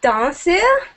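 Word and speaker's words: ダンス: You can say danse, like just the transliterated English word.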